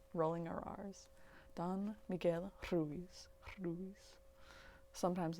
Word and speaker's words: Ruiz: agreements by don miguel ruiz ruiz if you guys want to roll your r's you got to breathe out when you do it and you kind of like put the tongue to the roof of your mouth behind your teeth and you just kind